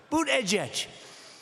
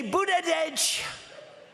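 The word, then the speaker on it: Buttigieg: then Jets I said think of it as boot and then edge edge because nobody can pronounce this guy's then open boot edge edge they say booted edge and Trump what I've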